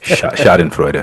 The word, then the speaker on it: Schadenfreude: Is that how you pronounce it? Yep. Schadenfreude.